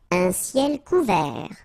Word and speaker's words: couvert: Un ciel couvert. Final T not pronounced.